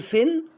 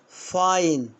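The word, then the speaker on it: fine: هنا ها اقول فين ولا ها فاين؟ برافو يعني غرامة.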